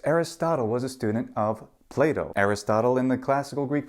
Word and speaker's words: Plato: said in the podcast how do you say Plato please say it Plato oh you it is in fact Plato in Latin and that